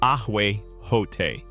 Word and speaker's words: ahuejote: As the Chinampa was being built, or shortly after its main structure of mud and vegetation was complete, young ahuejote, pronounced ahuejote, saplings or cuttings would be carefully planted along its edges, often at regular intervals.